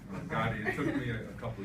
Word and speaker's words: Gade: But it's true, his name is pronounced like the crime lord. Gotti. It took me a couple of years to figure that out, actually. And I used to call him the Gade.